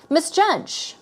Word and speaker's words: misjudge: I guess unpleasantly severely misjudge misjudge stress goes on the second syllable okay so these are